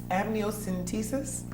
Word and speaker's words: amniocentesis: so Liza from Bloomfield asks what is amnios amniocentesis is that the correct pronunciation yes am what does it done and